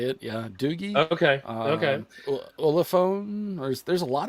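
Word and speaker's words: Doogee: There's also I don't know how to pronounce it, but Doji or Doogie or Doogie, I think is actually believe it or not, that's how they say it. Yeah, Doogie.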